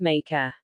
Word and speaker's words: Mexica: They called themselves Mexica, pronounced Meca.